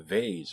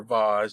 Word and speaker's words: vase: We have docile-looking robots that looks akin to a vase or vase, depending on how you pronounce it, but yet they're walking around with guns.